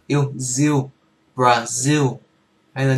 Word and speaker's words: Brazil: z yêu z yêu zil Brazil, hay là nếu phát âm chuẩn hơn thì Brazil.